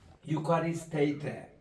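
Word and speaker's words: εὐχαριστεῖτε: 이 모음 두 개가 이제 엡실론하고 윕실론 이게 두 개 합치면은 유라는 발음으로 이게 난다고 옛날에는 그렇게 배웠습니다.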